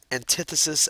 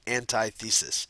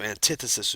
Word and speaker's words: antithesis: why it's used and just notice it's usually pronounced antithesis as opposed to antithesis so antithesis would be the way to say it let's